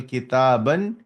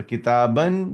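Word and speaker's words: كتابًا: Now note the noun with the tanween in the accusative case takes an alif which is not pronounced. For example, kitaban, sayyaratan. So you will not saying the alif. Kitabun, kitabin, kitaban. So kitaban, there is an alif, but you are not pronouncing the alif.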